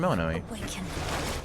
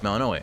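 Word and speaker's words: Melinoë: So, one level of aspect of melanino. Melaninoi. Melaninoi. There we go. It's a little hard for me to pronounce, admittedly.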